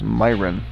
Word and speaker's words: Myron: Olivia's last name is pronounced Myron. Myron, not Myron.